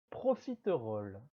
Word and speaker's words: profiteroles: 10e et dernière pâtisserie de la liste, il s'agit des profiteroles. Des profiteroles. En parlant rapidement, on prononce souvent ce nom profiterole. Profiterole. En sautant le son E, te.